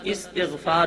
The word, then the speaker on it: استغفار: کلمہ استغفار، ہمارے ہاں عرف عام میں اس کو استغفار پڑھا جاتا ہے، درست تلفظ استغفار ہے۔ پنجم کلمہ استغفار، استغفار